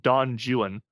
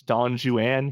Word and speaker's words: Don Juan: If you're talking about the Spanish legend, uh, when Byron writes Don Juan, he intentionally pronounces it like that because it's, I don't know, it's a joke about how British people can't pronounce right in foreign languages.